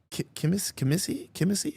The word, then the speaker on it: Kissimmee: No, it's in Kissimmee.